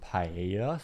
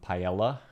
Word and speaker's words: paella: I mean, I know some paella, some uh or some paella, I should say. Great pronunciation.